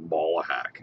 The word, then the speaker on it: Ballahack: it's like balls like ballahack that's how it's spelled b a l l but it's ballahack ballahack okay not can't teach an